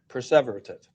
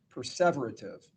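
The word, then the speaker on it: perseverative: And then he committed six preserverative errors. Did I pronounce that right? Perverative. Perverative which put him in the average range of functioning.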